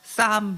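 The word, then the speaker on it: psalm: 풋살모의에서 이것이 영어로 발전해서이 풋살모의에서 영어에서는이 피음이 묵음이 돼서 그리고 l 자음도 묵금이 돼서 싸움 해서 PSAL을 싸움이라고 읽어서 이것이 오늘날의 시편이 되었습니다.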